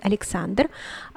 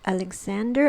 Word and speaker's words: Alexander: as alexander alexander and the stress is on the second syllable the second a sorry the third symbol uh syllable a and uh what are